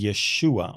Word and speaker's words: Yeshua: Achronot, and it says Yeshua on it, which was the right spelling and the right pronunciation of Jesus's name in Hebrew.